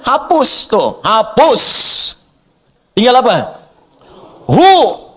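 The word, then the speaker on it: هو: Hu itu singkatan dari huwa. Singkatan dari huwa. Hu disingkat huwa. Kalau Anda wakaf membaca kalimat bahkan dalam bahasa Arab, apalagi Al-Quran, berhenti pada kalimat huwa, maka huwa-nya nggak bunyi.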